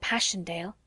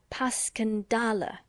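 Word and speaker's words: Passchendaele: Marant, it was so strange to hear you call it Passion Dale. Why, if I may ask? Because that's the way I pronounce it to myself, but I looked it up, and it's more like Puscandala.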